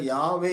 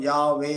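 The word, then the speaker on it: Yahweh: வல்லமைமிக்க ஒரு சிருஷ்டிகர் இருக்கிறாரு அவருடைய நாமம் என்னன்னு பார்த்தோம்னா யாவே அப்படிங்கறது அவருடைய நாமமாய் இருக்கிறது ஒரிஜினலா ஹீப் வார்த்தையின் படி பார்த்தோம்னாஹடள்ஹ அதான் வரும் உச்சரிப்பு அப்படி பார்க்கும்போது அது யாவேடஹ அப்படின்னு சொல்லிட்டு உச்சரிக்கிற உச்சரிப்பு வரும் யாவே அப்படின்னு சொல்லி உச்சரிப்பு வரக்கூடியதா இருக்குது அவருடைய நாமம் யாவை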